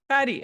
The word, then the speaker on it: Cudi: Cudi.